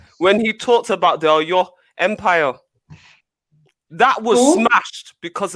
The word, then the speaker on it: Oyo: When he talked about the Oyo Empire, that was smashed because of the House of Fulani. How do you say it? Oyo? Yeah, Empire.